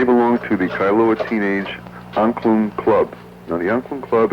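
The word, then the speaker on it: Angklung: It's hard to pronounce. It's a tongue twister. It's Anklung.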